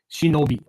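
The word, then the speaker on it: しのび: And it's written with 3 characters, still pronounced, still read Shi-No-Bi, right?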